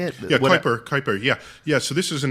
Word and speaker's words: Kuiper: Yeah, Kuiper.